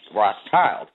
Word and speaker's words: Rothschild: the Red Shield Firm, pronounced in German as Rothschild.